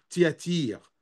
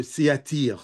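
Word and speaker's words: Thyatire: Je vais utiliser plutôtir parce qu'en arabe ça s'appelle siatira.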